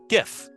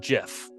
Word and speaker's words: GIF: I know call it gif and then I say I spelled the word gift I say how do you pronounce this word they say gift and then I take off the T and say now how